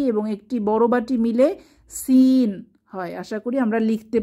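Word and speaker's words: سين: এই হরফটির নাম হচ্ছে সিন সিন জিহবার আগা সামনের নিচের দাঁতের গোড়ায় চেপে ইংরেজি সি এর মত সিন উচ্চারিত হবে সিন সিন এটাও সফির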